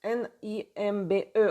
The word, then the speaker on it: nimbe: En français, on dit le nimbe, le nimbe en russe, N-I-M-B-E. On prononce comme ça le nimbe.